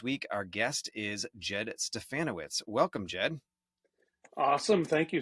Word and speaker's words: Stefanowicz: Our Guest is Jed stefanowitz welcome Jed awesome thank you sck perfect pronunciation too rhymes with banana banana witz yeah it always works